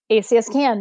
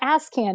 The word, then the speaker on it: ACSCAN: So it's ACSCAN, not ASCAN.